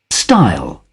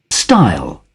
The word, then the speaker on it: stile: Okay, stile wood pronunciation. Dictionary, Cambridge. Style. Style. Wow, that sounded exciting. Style. Let's see what the US sounds like. Style. Style. Oh. No, I like the UK version better.